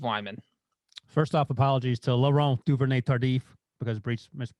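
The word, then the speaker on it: Laurent Duvernay-Tardif: given what i say that's pretty close laurent duvernay tardif i guess what you said oh i didn't go full french canadian french french canadian yeah so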